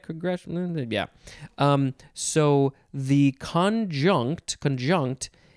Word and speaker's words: conjunct: see conjunct or con conjunct still emphasizing the second syllable we have two forms